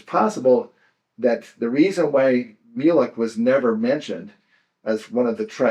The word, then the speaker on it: Mulek: But it's pronounced Mulek. Mulek.